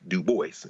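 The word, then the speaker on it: Du Bois: archives where he says the way I pronounce my name is d o o dash b o i SS dubo in other words so uh dubo is the this the Latin pronunciation but Duce would remind people that he he would pronounce it Duboce and in course maybe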